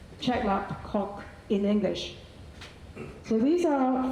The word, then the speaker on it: Chek Lap Kok: Similarly, Hong Kong's world-class airport is at Chek Lap Kok Chek Lap Kok in English.